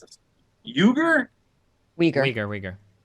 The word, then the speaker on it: Uyghur: Let me know if I mispronounced this. Uighur? Uyghur. Uyghur. Uyghur, thank you.